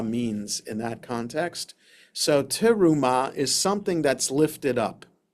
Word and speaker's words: terumah: A terumah, or with the accent, the right syllable, a terumah is a gift that is given to God.